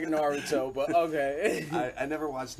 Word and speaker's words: Naruto: Dragon Ball is Neither is our Naruto. novella. Neither is Naruto.